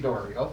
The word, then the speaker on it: Doro: do not know me my name is Doro and that is how it's correctly pronounced for some reason your past mayor in your Chief pronounce it Dorian I think they just